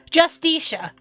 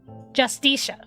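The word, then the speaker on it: Justitia: Uh pronunciation. Help me out here, Google. Justicia. Justicia.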